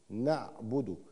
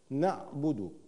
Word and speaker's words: نعبد: كلمه نعبد نعبده نعبده النون المفتوحه حركه فتح العين ساكنه نعم الباء مضمومه الباء مضمومه الباء مضمومه اؤكد على حركه الباء الباء مضمومه لان الكثير منا او من اسمعهم يقرا الباء مكسوره خطا ليست نعبد وانما نعبد وكيف احقق هذه الضمه